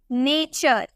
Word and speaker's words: nature: ठीक है, उसी तरह से अगर हमें बोलना हो NATURE, यहाँ पे आपको टी के बाद URE नजर आ रहा है ना, तो इसे हम च में प्रोनाउंस करेंगे, हम बोलेंगे नेचर।